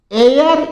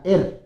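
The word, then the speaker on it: heir: तो इसमें एच हमेशा साइलेंट रहेगा। या तो आप इसको एयर बोलोगे या एर बोलोगे।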